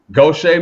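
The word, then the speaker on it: Gautier: Currently residing in pronounce the name Goch Gocha, Mississippi. I didn't want to mess it up. I was getting ready to say Gator, Mississippi. Gocha, Mississippi.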